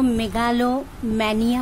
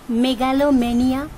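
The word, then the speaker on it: megalomania: মেলানকলিয়া দুঃখ বিলাস মেগালোমেনিয়া উচ্চারণটা মেগালো ম্যানিয়া হবে না মেগালোমেনিয়া বা মেগালোনিয়া ও বলা হয় কিন্তু প্রপার যেটা সেটা মেগালোমেনিয়া ওকে আত্মগরিমায় বিশ্বাস অহংকার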